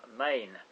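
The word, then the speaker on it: mesne: directly or some under some main and that's spelled m-e-s-n-e and means intermediate under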